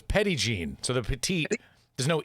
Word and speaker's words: Petit Jean: what is it how do you say it petty gene petty gene i'm saying petite gene yes that's because you're not from arkansas no of course i'm